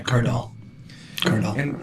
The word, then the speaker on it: Cardall: And your name's pronounced Cardall, right? Not Cardall? Yeah, Cardall.